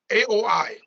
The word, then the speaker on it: Aoi: Aoi, AOI, but it's pronounced Aoi.